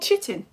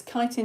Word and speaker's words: chitin: And fungi cell walls are made out of something which I found out in the first Facebook lesson is not called chitin.